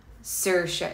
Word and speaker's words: Saoirse: It's actually, so it's Saoirse, but it's easier for Americans and English people to say Saoirse or Saoirse. Saoirse is how Irish people say it.